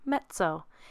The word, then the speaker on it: mezzo: means medium soft please pay special attention to how we say the word mezzo in italian two z's together make a ts sounds like the word pizza we have mezzo here